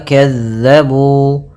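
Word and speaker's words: كذّبوا: Pada bacaan wa kazzabu, hati-hati dalam melafalkan huruf zal yang dimana zal ini pelafalannya dari ujung lidah kita menempel dengan gigi sari atas kita.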